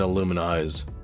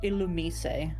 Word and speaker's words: Illumise: I think its whole purpose in life is just to find Illuminize. That's it. I've heard people say it's pronounced Illumise. Illumise? I mean, I can see that. I like to call it Illumise.